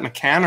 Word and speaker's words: McCann: Did I pronounce that McCann or McCain? McCann. No, McCann. McCann. You got it right.